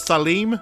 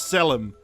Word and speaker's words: Salim: us away and also his name is Salim not sell him as such as we keep saying I know it was